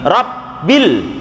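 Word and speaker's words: ربِّ: dengan Alhamdulillah Hirobbil Alamin tapi rabbil diteken rabbil gitu Itu namanya tasjid ada 14 satu tasjid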